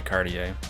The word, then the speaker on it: Cartier: I would say Cartier, like Cartier French.